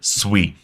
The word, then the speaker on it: Sui: And first off, how's it pronounced? It is SUI. It is not SUI. I've been corrected multiple times. So if you want to be on the better half of the SUI community, just pronounce it SUI.